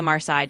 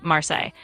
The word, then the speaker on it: Marseille: You're talking about the Marsai deck, and you're spot on with the pronunciation. It's Marseilles.